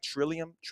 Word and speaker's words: Trillium: Trillium.